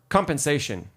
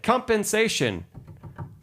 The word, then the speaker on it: compensation: Compensation four syllables. If you put the accent on the wrong syllable, compensation, it doesn't sound quite right. Compensation sounds really wrong, right? It doesn't sound like the right word anymore.